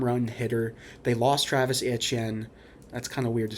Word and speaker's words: Etienne: They lost Travis Etienne. That's kind of weird to say, but it is true. And if phonetically it looks right, it sounds French.